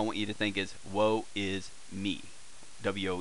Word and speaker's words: ヲ: which ever way but this is technically it's pronounced woah wo you usually see it pronounced oh because he's so often as a particle which usually for Indian